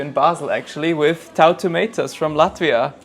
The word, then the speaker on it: Tautumeitas: I try to do my best with names, Tautumeitas. Did I say it correctly? Yes, perfect. Because I've seen some confusion on social media. What was like the weirdest pronunciation you've heard of Tautumeitas? Tautumeitas.